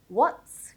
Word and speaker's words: what's: What's going on? What's? Notice how I'm not saying what's going on. What's? It's because I'm pronouncing the TS at the end as a consonant cluster, not two individual sounds.